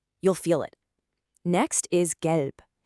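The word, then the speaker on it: gelb: Next is gelp. Make sure you have that hard G sound like in get.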